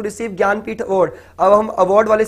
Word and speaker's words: ज्ञानपीठ: Award है ज्ञानपीठ award, जिसकी spelling जे से स्टार्ट होती है, जननपीठ नहीं बोलते इसको, ज्ञानपीठ बोलते हैं।